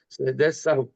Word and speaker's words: سجدہ سہو: جو اصل پرناؤنس اس کا کیا جائے گا تلفظ سجدہ سہو.